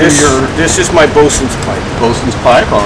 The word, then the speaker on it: boatswain: The original pronunciation was boatswain. Swain, but sailors are really good at compressing words and making them shorter. And boatswain, over a few years, the generations of sailing becomes bosun.